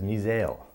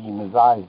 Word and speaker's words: missile: The government agent consistently mispronounced the word missile as misail. That's why the missiles that we send it